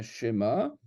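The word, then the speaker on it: שמע: Eh bien, Shema, c'est un mot qui se prononce Shema. et pas Shema. Le E, il est prononcé parce qu'il est au début du mot.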